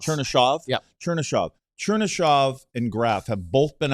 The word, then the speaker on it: Chernyshov: Chernisov? It's Chernyshov. Chernyshov? Yeah. Chernyshov and Graf have both been on a line with Celebrini at some point or the other.